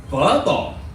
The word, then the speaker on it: phở bò: You know, it's not pronounced pho. You know that. You know the Vietnamese noodle soup? Yeah, it's pronounced phở bò. Can you say phở bò?